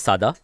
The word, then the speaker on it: Sada: So the Sai pronunciation is Sada, Okay.